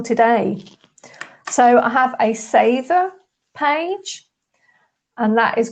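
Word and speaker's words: seiðr: So I have a Sather page, and that is called the Sather's Witch Apprentice.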